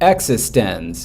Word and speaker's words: eXistenZ: Literally, the first shot of the movie is a chalkboard and somebody writing, it like that and saying existence, and this is how it's pronounced.